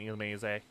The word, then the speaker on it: Illumise: Not great that they can spawn above the water, those Volbeat and Illumise. Some people pronounce it Illumise. I don't know, I've always pronounced it Illumise just because it honestly, it sounds more French.